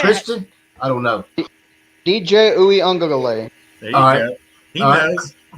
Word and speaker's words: Uiagalelei: I will pull for DJ Uiagalelei in the Clemson. Man, you say that flawlessly, by the way. All right. Christian? I don't know. DJ Uiagalelei.